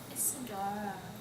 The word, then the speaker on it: Isadora: nice to meet you Isadora that's like four syllables it's like can I